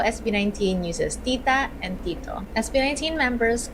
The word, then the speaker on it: tito: When you say tita or tito, there's no puff of air like in English.